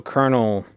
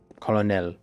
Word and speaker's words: colonel: it's spelled I believe it's spelled the French way and it just never changed with the pronunciation.